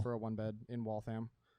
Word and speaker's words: Waltham: for a one bed in Waltham. I'm glad you say it correctly now. Waltham.